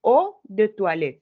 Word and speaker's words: eau de toilette: O de toilette, ¿cierto? Porque dijimos que EAU se pronuncia como O, ¿cierto? O, de, toi, wa, ¿cierto? Toi, le, ¿cierto? O du toilette. No pronuncio ni la T.